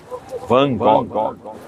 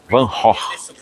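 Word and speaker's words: Van Gogh: A pronúncia não é essa. Chegar na Holanda e perguntar sobre Van Gog, as pessoas vão te olhar de forma um pouco atravessada. A pronúncia certa desse nome é Vanor. É isso aí mesmo que você ouviu.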